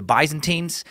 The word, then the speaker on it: Byzantines: military alliance with the Byzantines that by the way is the correct American pronunciation for that words take it easy brits you cool your Imperial pronunciation Jets I know I've been